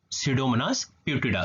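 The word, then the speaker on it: Pseudomonas putida: सीडोमोनास प्यूटिडा, spelling check करिएगा, PSEUDOMONAS, सीडोमोनास प्यूटिडा, PUTIDA, सीडोमोनास प्यूटिडा।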